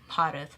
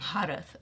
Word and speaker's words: Bharat: Like diaphragm area, the H sound. It's if you over enunciate, you'll say it right. So like, imagine the h coming out. It's like going Bharat.